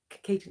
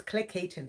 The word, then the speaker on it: Cleckheaton: I think it's Cleckheaton. No, it's Cleckheaton.